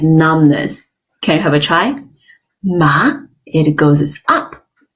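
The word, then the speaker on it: 妈: the syllable ma so the first one is ma it's a high flat Homer ma can have a try ma that means mom in Chinese the second tone is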